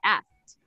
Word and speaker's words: asked: because ask has an explosive sound at the end. Ask finishes with K. So the K sound. So when we transform it into the past, you know there's a key to pronounce it more native like, but it doesn't apply in this list. So we would have to go with asked. You see, asked. So the letter T is an explosive sound in asked.